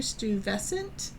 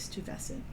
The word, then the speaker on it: Stuyvesant: And let's see if I can pronounce his name. Peter Stuyvesant. Or Stuyvesant. I'm going to go with Stuyvesant.